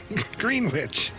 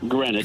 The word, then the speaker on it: Greenwich: Today, the prime meridian is marked by a laser beam that shoots out northward from the Royal Observatory in Green Witch. No, that's that's pronounced Greenwich. Greenwich.